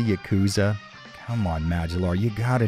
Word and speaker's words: Yakuza: Did you just say Yakuza?